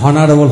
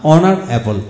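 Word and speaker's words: honourable: এখন আসুন, যেমন যেমন অনার, এইচ ও এন ও ইউ আর, অনার অনার, যেমন অনারেবল, এখানে এখানে এইচ এর উচ্চারণ হয় না, হনারেবল হওয়ার কথা ছিল না, অনারেবল অনারেবল।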